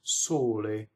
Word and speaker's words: sole: So the sun, sole. Closed O on the stress.